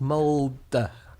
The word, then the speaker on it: Mould: So, Anna, just before this we started recording, we ascertained that it's pronounced mold.